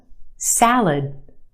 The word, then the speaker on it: salad: Where's the stress in that word? Salad. If you said the first syllable, you're right. The a sound in the first syllable. Salad. The second syllable is our schwa. Lud. It's said very quickly, and we have that sound.